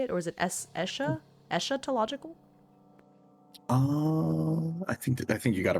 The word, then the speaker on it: eschatological: Eschatological? Eschatological? Is that how you say it? Or is it eschatological?